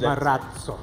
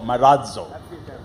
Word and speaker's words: Marazzo: We have changed it to Marazzo, and we have a D sound coming just before Z. Marazzo. So Marazzo.